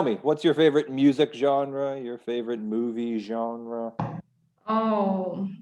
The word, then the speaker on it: genre: very hard to pronounce well genre french yeah like entrepreneur yeah